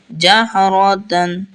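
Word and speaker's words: جَهْرَةً: খাড়া জবর আছে নাহা জাহারাতান জাহারাতান জাহরতান জাহরতান এখানে যদি দুই জবর দুই জের দুই পেশ থাকে তাহলে এটা কিন্তু তা এর সাথে নুন উচ্চারণ নুনের মত উচ্চারণ করতে হবে তান তান জাহরতান জাহরতান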